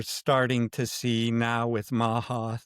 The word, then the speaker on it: MAHA: And we're starting to see now with MAHA, the Make America Healthy Again, Rhymes with ha-ha.